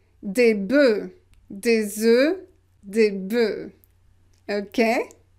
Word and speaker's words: bœufs: Un bœuf, des bœufs, des bœufs. So you pronounce it e. Why that? Because we don't pronounce the final consonant here for the plural.